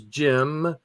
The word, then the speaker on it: Cem: Would you have said Jim if that's what you saw right there? CEM. Wait. Oh, really? That's Jim. That's pronounced Jim. Jim.